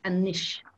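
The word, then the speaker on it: anois: for and is august the word for now is anish nish a-n-o-i-s and niche that's like sharpish we're gonna do it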